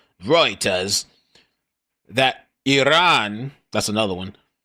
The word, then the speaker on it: Reuters: It's not Reuters, it's Reuters. Because we made that shit up, the pronunciation. The E is just, Reuters.